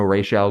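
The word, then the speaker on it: Ra's al Ghul: his master even though they pronounce it rez in this movie and that's not correct uh they might pronounce it racial like once or twice correctly it alternates characters like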